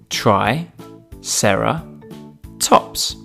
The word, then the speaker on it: triceratops: us today triceratops try sarah tops can you say it with me try sarah tops let's learn all about triceratops